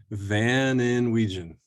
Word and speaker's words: Van Inwegen: And, and how do you pronounce your last. Van Inwegen: Van Inwegen it's, it's a, it's an Americanized version of a, of a Dutch Cory Connors: last name.